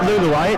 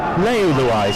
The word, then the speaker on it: Leuluai: He said it's not Luluai, it's Leuluai, so henceforth it is.